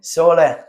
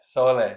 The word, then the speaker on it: Sole: from Italy we started like that and then pronounce it for me sole sole sole sole means sun oh nice Yeah.